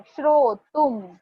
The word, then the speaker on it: श्रोतुं: जहां पर भी अनुस्वार दिख रहा है उसको म प्रोनाउंस करना है। श्रोतुम, सुहास्यम, घ्रातुम।